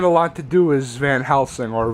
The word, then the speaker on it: Van Helsing: Anyway, so Van Sloan doesn't get a lot to do as Van Helsing, or Von Helsing as for some reason pronounced in this film.